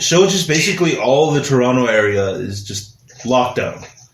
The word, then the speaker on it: Toronto: you said it right because they pronounced the second t over here that's how i always know when somebody's not like from around here toronto you know so they'll